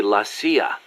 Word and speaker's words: la CIA: Around here they say La CIA instead of CIA, huh? Nothing strange about it. That's how it's pronounced when you read it in Spanish.